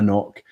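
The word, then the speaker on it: anCnoc: says it tells you it says pronounced uh knock there's a lot of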